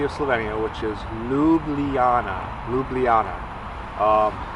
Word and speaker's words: Ljubljana: the capital city of Slovenia which is Luana lublana um it's lovely here it's so peaceful it